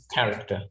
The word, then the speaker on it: character: Yeah, this one is even though it's spelled CH, we don't say character, we say character.